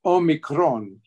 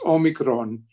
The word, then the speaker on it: omicron: and it is pronounced omicron you don't have to roll the r but it's all me like omeo mai and it's kron rhymes with drone omicron if you don't